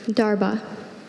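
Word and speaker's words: darbha: Darba.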